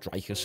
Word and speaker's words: Dricus: Dricus, I think it's pronounced Dricus, isn't it? I finally got it right.